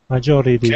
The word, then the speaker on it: majority: Majority. Okay. Okay. On your R sound, make sure not to pronounce a hard R.